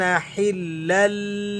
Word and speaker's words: حلا: کے ساتھ پڑھتے ہیں۔ حا لام زیر حل لام لام دو زبر لل لام زیر لی کان حلا لی با زبر با نون یا مد زیر نی کان حلا لبنی۔ اب یہ ذرا